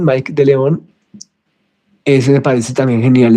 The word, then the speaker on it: Mike de León: E cine de Filipinas también, Lino Broca, La Díaz y ¿cómo se pronuncia? Mike de León o Micke de León. Mike de León.